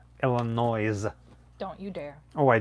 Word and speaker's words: Illinois: louis how dare you if you pronounce the s in saint louis how come you cannot pronounce the s in illinois illinois don't you dare oh